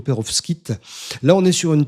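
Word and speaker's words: pérovskite: J'espère que je prononce bien Peros Kit. Perfos kite. Non, je pense que c'est plutôt Perovskit.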